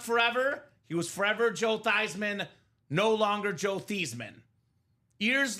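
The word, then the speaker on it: Theismann: We got to change the name, the pronunciation of your last name from Theman to Thyman."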